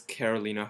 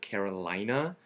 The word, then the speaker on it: Carolina: them out there but one of our favorites is karolina Herrera um and we've noticed that some people have a tendency to sometimes call it Carolina but she's actually Italian she's not from one